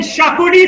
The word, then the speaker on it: Xacuti: How do you spell that? XACUTI. Chicken Shakuti said no further.